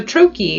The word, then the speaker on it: troche: bioidentical hormone replacement for men is called a troachy and that's spelled t-r-o-c-h-e and the trochi again is also by identical it is formulated